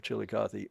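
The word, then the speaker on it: Chillicothe: the Chilikathy Baking Company of Chilikathy Missouri as they pronounce it down there who sold their first slices.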